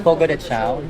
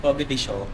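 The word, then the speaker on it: Fogo de Chão: Gumastos kami ng mag proper pronunciation yan eh. Fogo the chow ba? Fogo the show. Fog the show. Fog the show. Ah ganun pala dapat the show.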